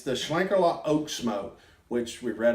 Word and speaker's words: Schlenkerla: some Google Translate and we think the pronunciation is Schlenker a lot now yeah it's the Shuang Carla Oaks mo which we've